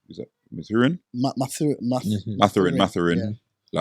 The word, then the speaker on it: Mathurin: How do you pronounce his name? Is that Mathurin? Mathurin.